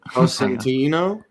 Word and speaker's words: Costantino: Costantino. Yeah, that's it. That's the proper way to say it.